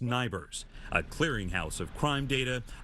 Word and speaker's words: NIBRS: Ford oversees the National Incident-Based Reporting System, pronounced NIBRS, a clearinghouse of crime data operated out of the hills of West Virginia.